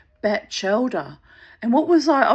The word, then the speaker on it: Batchelder: Oh, and I also learned, you know, from Wikipedia, that it's um Chris Batchelder. Batchelder. Batch as in bachelor or a bachelor living on a beach. Batchelder.